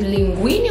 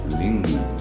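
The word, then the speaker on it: linguine: Let's say linguini. Mm-hmm. Is it linguini or linguini? Linguini. Linguini, so you need to say, you need to spell the hard G in that word, linguini.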